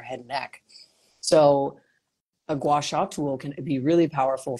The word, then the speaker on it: gua sha: I can never pronounce gua. Whatever. It's so cute. It's gua sha. So gua sha.